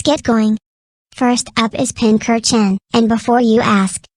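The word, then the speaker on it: Pincurchin: First up is Pinker Chen, and before you ask, it isn't pronounced Pincher Chen.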